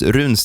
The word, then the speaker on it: Runsten: want to pronounce it it's pronounced runin in Swedish which means you know